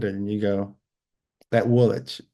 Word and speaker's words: Woolwich: But there are certain words that you look at it and you go, that Woolwich. Woolwich is Woolwich.